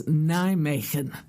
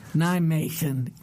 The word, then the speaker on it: Nijmegen: the conference was held the name of the town is Nijmegen and you got to get a little rasp to you Nijmegen wonderful something like that